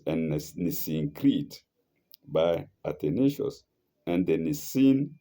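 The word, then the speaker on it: Nicene: Nissit by Atonius and Nissin Creed, not Nissen.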